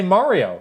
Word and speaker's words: Mario: In the US, people say Mario, like car.